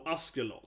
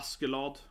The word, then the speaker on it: Askeladd: Because Ask means ash, right? It's similar to the English, so like to ash, something, lad. So it's kind of Askeladd. Askeladd, yeah, it's kind of similar.